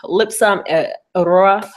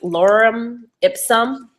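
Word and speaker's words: Lorem ipsum: go to Lipscomb um it's lipsum Aurora I I that might not be the word for it I just can't pronounce anything foreign to English um excuse me I have family coming in um it's actually Lauren ipsum it's a Greek what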